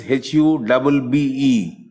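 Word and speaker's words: Hübbe: Hube is Hubbe.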